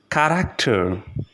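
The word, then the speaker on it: Charakter: In the third case is also can be pronounced like k. If it is in the beginning of the word, here we have the example of the word character, character, which means character.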